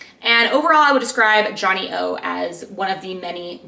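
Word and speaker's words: Johnnie-O: And Johnny O is spelled JOHNNIE -O, capital O.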